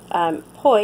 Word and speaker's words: poi: Poi, in case you're wondering, is spelled P-O-I.